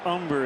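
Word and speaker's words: Humber: mariana rivera the pitcher umber is on De don't pronounce that H Umber long look by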